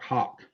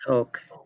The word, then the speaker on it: Hoch: or and it looks like hawk, but it's not. It's not. It's Hoch, and it's Oh, not, okay. and it's not no Yeah. sh or ch either. Okay. It's Hoke. It's So Hoke. it's pronounced Hoke.